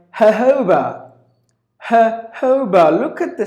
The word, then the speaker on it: jojoba: day here but then the pronunciation is sounds like the J is replaced with the H sound just a merchant take the days off Tuesdays and then put two H's first and the second ha ho bah jojoba jojoba that's our phonetic transcription seis but then you gotta give the stress on the second syllable jojoba jojoba ho jojoba it's a it's an